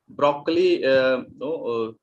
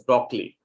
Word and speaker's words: broccoli: Broccoli, we often pronounce it as broccoli, but in Italian the sound is broccoli.